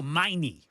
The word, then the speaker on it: Meine: Oh, Meine.